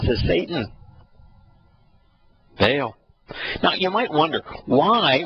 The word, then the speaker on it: Baal: ba baale is the Bal would be the proper Hebrew pronunciation ball Bale is the